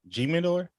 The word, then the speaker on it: Jimador: out it's hitting though it's the H sound I never heard of